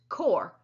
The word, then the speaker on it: Corps: known as the core it's pronounced core but is spelled c-o-r-p-s it's a branch of